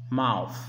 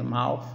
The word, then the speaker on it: mouth: Mouth. Se pronuncia mouth, mas é com O.